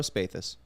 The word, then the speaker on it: Spathus: for producing the show spathus bathus i said it right i want to second-guess